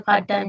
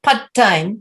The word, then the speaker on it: part: job part-time okay so it's not a pad time it's not quite time it's not done it's part time ah part time that's it so it's not they're not short sounds they're slightly longer vowel sounds so part part can